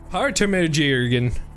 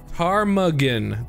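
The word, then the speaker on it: ptarmigan: Tarmuggin. Tarmuggin. Oh. There's a silent P like a pterodactyl?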